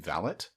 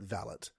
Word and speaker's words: valet: off to the parking valet MH no in in Canada we still consistently pronounce it valet because we have enough French influence which is interesting cuz